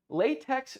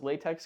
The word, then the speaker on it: LaTeX: math formulas into latex it's not actually pronounced latex because the x is silent but you know who